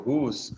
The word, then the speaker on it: whose: Esse ezinho depois de S, ele tem um som mudo, que a gente não pronuncia.